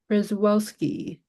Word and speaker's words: Przewalski: So it's pronounced in the Russian sense, Przewalski.